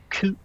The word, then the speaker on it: Kit: His name in Danish is pronounced Kid.